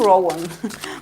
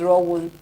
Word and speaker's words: Rowoon: is Rowan is Rowan right I call him Rowan but it's r one I believe oh okay for for r one